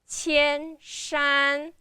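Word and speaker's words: 千山: So, we pronounce the first two characters qian shan and then we might give a little bit pause and then continue the next three words, okay?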